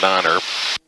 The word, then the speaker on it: niner: read the phonetic thing it says to pronounce it tree in five and niner just glad i don't